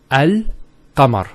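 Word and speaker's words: القمر: It's Al-Qamar. So Al-Qamar. So there's a sukoon there on top of the lam.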